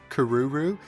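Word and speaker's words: クルル: is so annoying because in Japanese it has one pronunciation, Kururu, and then of course in the English translation they give us like a million different ways to pronounce it, and nobody can agree on how you do it.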